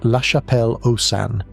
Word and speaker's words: La Chapelle-aux-Saints: Pronounced La Chapelle-aux-Saints in southwestern France.